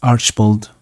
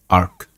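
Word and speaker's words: Archibald: note before we start Mary's Uncle name is Archbold Graven not Ark Google pronounced it incorrectly so and the manor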